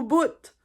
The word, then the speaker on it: bout: dire ah c'est au bout donc ça ça peut vouloir dire aussi ça c'est top donc c'est au bout donc on prononce le T à la fin du Bout euh une derni une